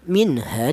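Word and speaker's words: مِنْهَا: Cara bacanya minha ya minha jelas bahwa nun matinya ini dibaca izhar atau nun matinya ini dibaca jelas minha.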